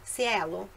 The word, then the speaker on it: cielo: Cielo. A pronúncia correta é cielo, cielo, e significa céu.